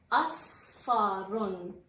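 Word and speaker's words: أصفر: Donc, on prononce bien asfaron. Asfaron. Donc, l'alif, sad, fa, ra.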